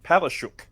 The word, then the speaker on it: Palaszczuk: Queensland's name is actually Polish, and it's in Polish you would pronounce Palashuk, but because shuk is close to chuk, which is Australian for chicken, Yeah. he changed it to Palaszczuk.